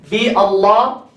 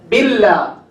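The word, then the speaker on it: بالله: If you say Allah, if you use the ba, what do you say? Bi Allah. What do you say? Billah. Billah, right? Billah.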